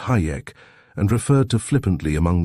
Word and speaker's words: Hajek: Fred Hajek, too, pronounced Hayek, and referred to flippantly among the student nurses as Hijack.